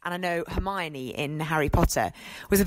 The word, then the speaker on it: Hermione: And I know Hermione in Harry Potter was a bit contentious because a lot of kids read that as just Hermoine, but actually it worked really well in the end.